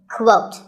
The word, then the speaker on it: quote: is the word quote this is not pronounced the same as coat the correct way to say it is with a kua sound at the beginning quote similarly we have quotation